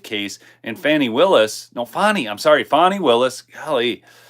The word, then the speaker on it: Fani: think of something but her name by the way is not Fanny she's very upset about about this now I mean I just looked at it f an ni I and I pronounced it Fanny I didn't even understand and then I kept hearing fonnie and then I heard Fanny fonnie Fanny fonnie Fanny I don't